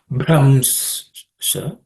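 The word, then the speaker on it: भ्रंश: This bha is fourth letter in the pa varga or per class of consonant, so it has to be aspirated. So it's Bramsha.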